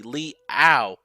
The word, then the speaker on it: Liao: Liao. Leo. Oh my gosh, I think I've been saying his name wrong.